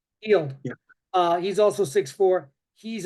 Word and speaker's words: Hield: I think it's pronounced Hyde. Hield.